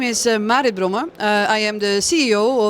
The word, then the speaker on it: Marit: Yes, Marit for the Dutch-speaking people, but Marit for the English-speaking people.